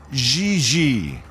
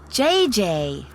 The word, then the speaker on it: JJ: you mean jiji ling no i mean jj gigi jj on francais you pronounce g like j and j like g she may very well be jj in america but in france she is gigi how well does she